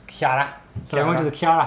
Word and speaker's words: Chara: pronouncing that because it's spelled in English like character which character which would be spelled CH because he cut off the last half a word but in Japanese it's Kar I went to the